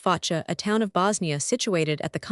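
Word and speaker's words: Foča: Foca, pronounced Focha, a town of Bosnia situated at the confluence of the Drina and Sehatina rivers, and encircled by wooded mountains.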